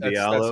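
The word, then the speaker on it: Hamidou Diallo: Hamadou Diallo, that's exactly it.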